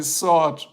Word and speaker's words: sword: sword work yeah the sword work see I said it wrong as a German I used the W SW I have to say sword work it's a sword right